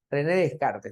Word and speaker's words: Descartes: tenemos a René René qué descar de car se pronuncia de René de Cars ya René Descartes no cojito pienso existo